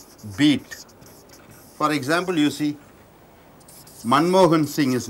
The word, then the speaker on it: Manmohan Singh: Sy plays an important role what is syllable syllable is a beat for example you see Manmohan Singh his name is Manmohan Singh our prime minister name is Manmohan sing Singh